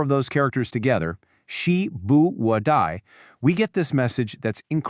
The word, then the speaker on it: 时: This is pronounced Shí.